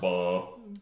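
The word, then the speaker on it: Baal: horses in his defense it's pronounced ball so the reason the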